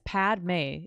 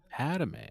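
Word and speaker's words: Padmé: like 30 minutes yeah it's pad May it's p a d m e oh it's just Padme there's no third syllable it's not padame oh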